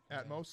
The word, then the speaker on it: Atmos: Atmos, is that how you pronounce it?